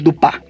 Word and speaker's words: Dupin: realmente Ella se llamaba auror dupin o auror dupa va pronunci en francés correctamente y bueno en su